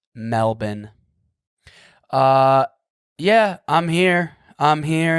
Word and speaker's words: Melbourne: When I first came here, I was calling it Melbourne, Australia. That's how it looks like you'd say it. It's how it's spelt, kind of. But no, it's Melbourne.